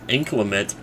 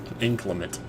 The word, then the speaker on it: inclement: the word I thought it was inclement but inclimate as in in climate has the subword of climate in it inclement you just you know put the just put the accent on a different syllable still can't go in